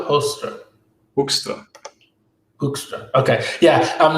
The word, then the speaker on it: Hoekstra: Foreigners always have some trouble with the G, but also the U, the Hoekstra.